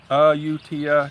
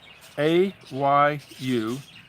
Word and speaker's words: Ayutthaya: Ayutthaya, Thailand. It's spelled. You got a pen? It's spelled Ayutthaya.